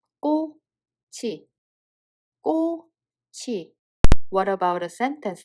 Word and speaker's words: 꼬치: It has a CH sound Batchim and a circle on the following word. So CH sound carried over and the real pronunciation will be 꼬치.